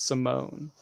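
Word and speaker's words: S1m0ne: Wow, ahead of its time, because it spelled like Sim days, 1, like Simulation 1, but it was Simone.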